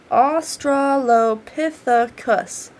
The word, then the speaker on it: australopithecus: grouping of australopithecus what a weird name right australopithecus is how you pronounce that as you can see myself as